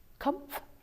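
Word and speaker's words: Kopf: read in the newspaper last year about Judge Kumpf. Judge Kupf, it's spelled K-O-P-F.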